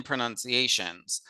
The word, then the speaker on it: pronunciation: Or pra and not pro. You might think, why are they saying pronunciation and not pronunciation?